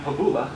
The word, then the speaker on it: Pakula: Kanani my name is Pakula actually sounds strange that Polish pronunciation I'm a will County